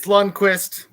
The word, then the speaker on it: Lundqvist: Is it Lundqvist? Is that how you pronounce it? It's Lundqvist.